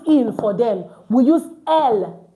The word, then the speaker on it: elles: And then we use L for they as feminine. Group of women, group of ladies, group of girls we have in one location. We don't use ill for them. We use L.